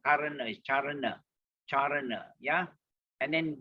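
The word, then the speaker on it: caraṇa: C is always pronounced as CH. So charana, not karana, not karana, is charana, yeah.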